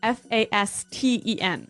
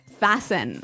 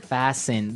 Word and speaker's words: fasten: interesting yes it's spelled f a s t n right so it would be Fast N no no right fasten fasten the T kind of becomes silent so it's fast yep